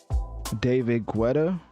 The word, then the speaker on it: David Guetta: then and then we're going to get into David Guetta that's how you say it and then we're